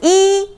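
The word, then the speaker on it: 一: The word for one is E in Chinese. E. Can you tell? It's kind of long and no change when you pronounce it.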